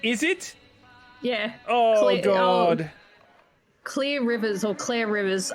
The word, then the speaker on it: Clear: Clear Rivers or Clear Rivers? It's spelled Clear, but I'm guessing it's Cle.